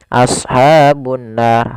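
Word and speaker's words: أصحاب النار: Cara membacanya yaitu menahan suara gunnahnya, tidak langsung. Misalkan ashabun nar, harusnya ditahan dahulu. Ashabun nar.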